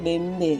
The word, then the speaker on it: bembe: Tulisan Latin untuk kata bembe adalah B. Nah, meskipun lontarannya adalah BB, nah tetap bacaan Latinnya bembe yang artinya kambing.